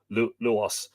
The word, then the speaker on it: Lugh: uh logo donna the fortress of lugos or luas lugos pardon me but in irish it's lug